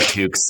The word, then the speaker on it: toque: Um, and we call them toques. And that is spelled, uh, surprisingly t o e. And it is spelled that way because it derives from French Canadian.